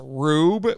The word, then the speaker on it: R/B: It's pronounced Rube, but it looks like R/B.